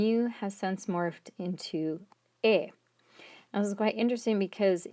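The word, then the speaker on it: 円: the word yen from, which now is actually pronounced in Japanese, modern Japanese, as en rather than yen.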